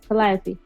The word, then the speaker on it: Calliope: more so minerva than calliope did i say her name right yes calliappy i had to write it down phonetically because i was calling